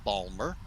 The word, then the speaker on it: Baltimore: international airport baltimore or as those that uh live there call it balmer uh so bear with